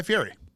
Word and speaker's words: Fieri: People think Guy Fieri's like no good. You have to watch every one. He's amazing. I stand by Guy Fieri's talent. Also, please say it correctly. It's Fieri.